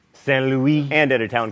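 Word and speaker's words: Saint-Louis: Oh, Stan, don't make me say it right. Fine. Saint Louis, and at a town called Gorée, both in Senegal.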